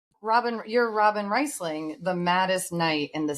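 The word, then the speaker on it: Robyn Rhysling: Is that how you say it? Yeah, Robin Risling.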